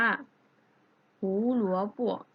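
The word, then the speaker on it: 胡萝卜: แล้ว นะ คะ ว่า ถ้า พินอิน เป็น เสียง เบา เรา จะ ออก กึ่ง เสียง นะ คะ เรา จะ ไม่ ออก เสียง เต็ม นะ ดัง นั้น คำ นี้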